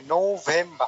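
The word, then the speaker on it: November: যে নৌযান বলি ওই নৌটা এসে পড়ে প্রথমে, নৌভেম্বা। আর নভেম্বর।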